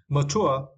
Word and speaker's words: mature: yeah and next was mature mature right we need to Str the second syllable mature of a person